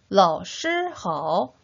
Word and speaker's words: 老师好: 老师好. 다시 한번 선생님 안녕하세요. 어떻게 표현하죠? 老师好, 老师好.